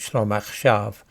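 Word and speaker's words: שלום עכשיו: There's an organisation for peace in Israel called Peace Now, and in Hebrew this is pronounced Shalom Achshav, with the letters shin and lamed forming one sound.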